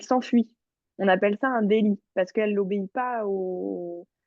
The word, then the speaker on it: délit: Est-ce que tu Délit. peux aussi me le redire? Un Délit? délit, exact. Tu m'avais dit d'élite, mais du coup, le T ne se prononce pas ici.